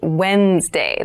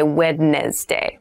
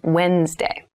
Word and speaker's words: Wednesday: mind this is pronounced Wednesday There's a d there but we don't say wedness day we say Wednesday Wednesday the 18th Wednesday